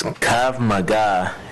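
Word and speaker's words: Krav Maga: mega law enforcement instruction i believe it's pronounced it's kav maga and it's uh defensive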